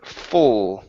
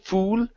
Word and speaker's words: full: Let's go to the word full. Instead of ooh, fool, open up the mouth a little bit.